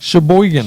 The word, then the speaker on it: Sheboygan: Sheboygan.